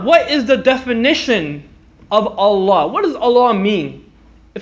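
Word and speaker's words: الله: in Sultan Fatih ha is love Fallujah lalala Allah Allah everyone say Allah Allah Allah Allah it's a lot ok it's pronounced with a round land Allah Allah who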